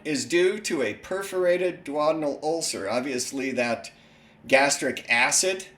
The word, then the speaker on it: duodenal: I think the surgeons made everybody start pronouncing it wrong, but if you think about it, putting the stress on the third syllable of a four-syllable word, that sounds ridiculous.